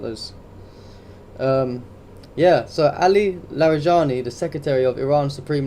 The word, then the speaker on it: Larijani: Um The So, basically, Ali Ali Larja Sorry. Ali Larijani, so I can never pronounce his name properly, the secretary of Iran's Supreme National Security Council, appears amid Again, Oak, thank you, brother.